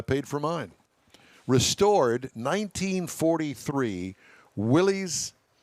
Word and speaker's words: Willys: Restored 1943 Willys. It's actually pronounced Willis.